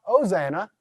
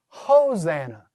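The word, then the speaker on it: ὡσαννά: It's going to be a rough breather, so not Hosanna, Hosanna.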